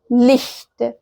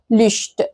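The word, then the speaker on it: Licht: غلط اسمها اش والتانيه اسمها لخت لخت ما اسمهاش لشت لشت كده او ان انا اضم اعملها كانها شين عاديه فده غلط تماما طيب امتى بتتنطق لتسيها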